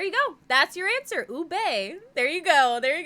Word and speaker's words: ube: Ube. There you go. There you go. Make sure to pronounce the E.